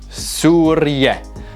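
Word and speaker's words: سوريا: move on to syria syria is surya now i'm pronouncing these in the iraqi dialect now if you want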